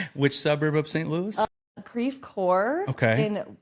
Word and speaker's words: Creve Coeur: And it's spelled like the French word, crève coeur. I don't know if I pronounced that correctly, but it's like broken heart, I believe. But of course, it's been Americanized, so we call it Creve Coeur.